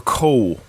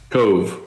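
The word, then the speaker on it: Kove: yeah now is this is it pronounced Cove or Cole because I've heard of both ways Cove V oh it is the ve is pronounced okay all right all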